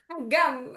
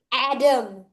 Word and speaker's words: Agam: Adam that I really don't like is that whenever I meet someone and introduce them to me, they always say my name Adam. Sorry agam wrong he is wrong to